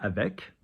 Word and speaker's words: avec: There are exceptions like avec.